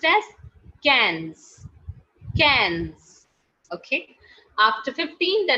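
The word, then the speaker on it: quinze: q u i n z e which is pronounced as guys cans cans which is pronounced as cans cans okay after 15 the next number is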